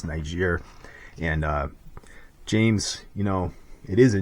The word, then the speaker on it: Niger: It's Niger.